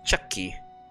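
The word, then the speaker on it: Chaki: C-H-A-K-I. Chucky is what the pronunciation of that would be.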